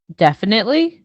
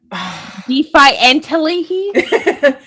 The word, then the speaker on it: definitely: like when people mispronounce this word okay we spell it like this d e f i definitely definitely yep how do people say it defiantly it's like i think it the what is